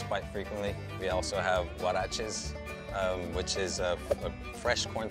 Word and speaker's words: huarache: We also have huaraches, which is a fresh corn tortilla topped off with beans, lettuce, the choice of your meat, and sour cream and Parmesan cheese. How do you say it? Huarache.